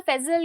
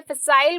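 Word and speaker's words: facile: ठीक है, फेजिल का मतलब, फेजिल या फिसाइल बोल सकते हैं। ठीक है, बट फेजिल इसका मोस्ट कॉमन प्रोनाउंसिएशन है।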